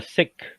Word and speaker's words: Sikh: By the way, guys, yeah, it's a Sikh community, not the Sikh, Sikh community. It's not Sikh. It's actually Sikh. That's how you pronounce it.